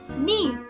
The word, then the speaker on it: gneiss: Gneiss. G-N-E-I-S-S, pronounced gneiss, is formed by the metamorphosis of granite.